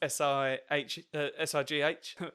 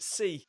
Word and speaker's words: Si: But when she pronounces my actual name, and I've had this a couple of times at gigs, people pronounce it C, like the Spanish for yes.